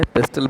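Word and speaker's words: PESTEL: इसमें T silent मान लिया जाता है, पेस्टल बोल सकते हैं आप चाहें तो ये एक एक अक्षर जो है एक एक डायमेंशन की बात करता है पर्यावरण के।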